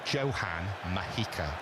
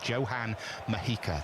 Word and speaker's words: Johan Mojica: Johan Mojica is how that name is pronounced. Was actually named after Johan Cruyff because his parents were massive fans, apparently, but he's pronounced with a solid J. Johan Mojica, the only player of